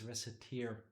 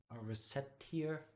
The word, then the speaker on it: Recettear: didn't make the game but there's no s at the end it has nothing to do with tears yeah true other than